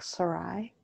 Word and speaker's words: Sarai: It's almost like, again, Sarah, but like Sarai.